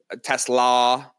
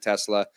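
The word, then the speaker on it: TeSlaa: Tesla is how you're supposed to pronounce it. You'll never hear me say it like that. I'm always going to say Isaac Tesla.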